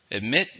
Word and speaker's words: admit: Admit means to say something that is true that you didn't want to really say. It's a verb. How many syllables are in admit? 2, stresses on the second.